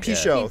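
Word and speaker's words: Pinchot: How do you pronounce his last name? I don't know. Bronson Pichot. Pichot.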